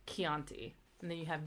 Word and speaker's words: Chianti: ciao and then see the combination CH only ever happens before the letter i or E and it's pronounced like a k so like Chianti and then you have